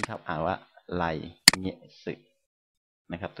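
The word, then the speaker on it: 来月: ก็ ได้ นะ ครับ ไร นะ ครับ เงะสึ ไลเงะสึ นะ ครับ ดัง นั้น ข้อ นี้ ครับ อ่าน ว่า ไร เงะสึ นะ ครับ ตัว นี้ อ่าน ว่า เงะ สึ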